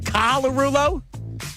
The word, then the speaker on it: Colarulo: That's how I say it, right? Colarulo? Because if I say it like it's spelled, it's incorrect, and people tell me I'm wrong.